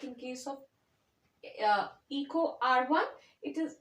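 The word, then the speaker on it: EcoRI: so that together means Eco R1 and is pronounced as Eco R1 all right so let me recapitulate what we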